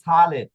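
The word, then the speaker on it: sale: দিয়ে শব্দ শুরু হয়েছে এস অক্ষরের পরে ভাওয়েল রয়েছে তাহলে এস অক্ষরের উচ্চারণ কি হবে স হবে যেরকম সালে সালে শব্দের অর্থ কি?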